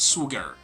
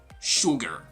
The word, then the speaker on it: sugar: is totally different like the sound is shu not su okay so this is gonna be sugar sugar not sugar but rather sugar okay sugar what